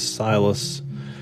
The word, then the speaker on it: Silas: Now this one is Silas spelled with a C-Y-L-A-S. And that gives us an opportunity to actually showcase Silas has a soft C at the beginning here.